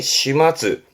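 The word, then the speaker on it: 始末: 그래서 발음이 시마즈. 발음은 시마즈야. 시마즈야.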